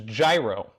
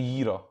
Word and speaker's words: gyro: i go the worst the worst pronunciation is gyro like oh yes it's dry rating hips uh it's actually yiddle yeah okay well hey